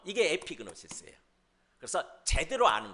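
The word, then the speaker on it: ἐπίγνωσις: 제대로 알라 이렇게 제목으로 바꿨는데 한번 따라서 해볼까요 에피그노시스 에피그노시스 다시 에피그노시스 피스네 시스란 말이 뭐냐면은 지식이란 뜻이에요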